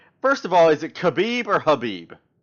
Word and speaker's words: Khabib: I think it's Habib. I think the K is silent. That's what I Um, thought. in their language, I think the K is silent. So it's Habib.